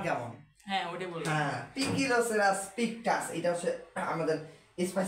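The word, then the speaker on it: Poecilocerus: তো আমরা যে গাছপালা নিয়ে পড়বো এখানে যে প্রজাতির এই 20টার মধ্যে একটা নিয়ে আমরা পড়বো, ওটার নাম হচ্ছে পিকিলোসেরাস পিকটাস। যদিও ভুলে গেলি পইগিলোসেরাস পড়ছো তাহলে কিন্তু বুঝবো যে বরিশালের ডাক্তার তোমরা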